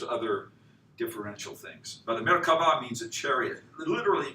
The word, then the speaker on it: Merkava: This V is often a B in ancient, so it's Merkava would be the ancient way.